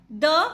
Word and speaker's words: the: तो अगर वोवल आता है तब हम दी प्रोनाउंसिएशन करते हैं। ऐसे ही आपने मूवीज़ में देखा होगा, जब लास्ट में लिखा होता है दी एंड, तो एंड में जो ई है वो क्या है?